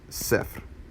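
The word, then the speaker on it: صفر: on English for you Saif it's almost kinda like a rolled R at the end of the word so Saif is zero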